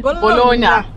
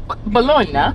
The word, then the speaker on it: Bologna: We will all say Bologna. They'll say Bologna.